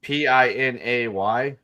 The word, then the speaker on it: Pinay: Wait, which P-I-N-A-Y?